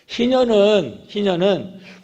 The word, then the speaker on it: 희년: 발음을 잘해야 돼요. 희년. 희년은 모든 것을 되돌리는 거예요.